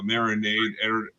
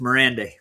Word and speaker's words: Miranda: So director Jonathan uh Marinade editor Eric Duran did I say it wrong? It's Miranda. Yeah.